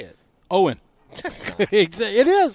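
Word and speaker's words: Eoghan: your brother eoan earlier Igan how do you say it Owen ex it is there's no G in Owen e o g h i a an is pronounced Owen don't ask it's Irish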